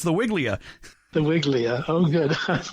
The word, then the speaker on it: Weigela: Well, we're talking about the Weigela, Weigela. That's the typical pronunciation, I guess. I guess in German it would be Weigela, but Weigela is what we call it.